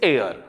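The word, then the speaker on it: heir: this particular word is air air here h is silent we do not pronounce this particular h so it begins with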